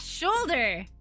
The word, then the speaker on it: shoulder: So I was like, ah, shoulder. Shoulder. Why? Okay, why? Why does it have an L in it?